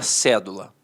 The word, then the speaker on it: cédula: no enunciado a palavra cédula E aí a palavra cedo notoriamente é uma proparoxítona a sílaba tônica está na antepenúltima sílaba aí ele pede para